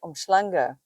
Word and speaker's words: uMhlanga: so Durban Beach itself is not nice but omanga so that's how you pronounce it I'll put the spelling on the